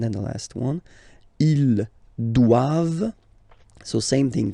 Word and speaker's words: doivent: All right, and then the last one, ils doivent. So same thing, classic ending for the plural form, ENT here. Okay, but then you don't pronounce it.